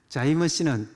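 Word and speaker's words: जय मसीह: 자이머스는 자이는 성리란 말이고 머시는 메시아, 머시아 네팔 발음이죠.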